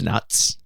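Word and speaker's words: Nutz: at that that's hilarious it's spelled with a zed so you know they're taking it seriously I'm sorry he's probably Dutch or something because that is at the beginning but it's silent it's nuts it's nuts and his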